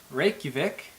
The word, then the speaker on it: Reykjavik: Some of the most common places you'll want to visit are Seljalandsfoss, Gullfoss, Reykjavik, Vik, probably one of the harder ones to say, Jökulsárlón.